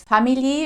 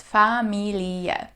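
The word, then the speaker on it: Familie: to make sure that you pronounce every single letter very often I hear English speakers pronounce it as fam which sounds like the English word family but in German we pronounce every single letter so it's family all right next let's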